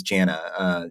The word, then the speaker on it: JVNA: Her name is Jana. You can find her name. It's spelled JVNA, and she performed a Mhm.